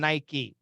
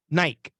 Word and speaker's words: Nike: crazy kind of crazy so Nike we say Nike and Nike so Nike long I but we also say Nike uh and now when